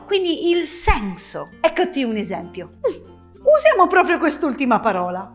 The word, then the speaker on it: esempio: il senso eccoti un esempio usiamo proprio quest'ultima parola si dice esempio non esempio Purtroppo questo accento non